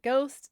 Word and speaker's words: ghost: Gospel, gossip, and gizzard all lost their Dutch H over time, but ghost stuck. And now every English-speaking child on earth has to memorize that silent H.